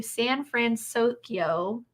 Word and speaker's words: San Fransokyo: um so pacific wharf is being rethemed into san fransokyo fransokyo yeah that's how you say it um which is based off of big hero 6.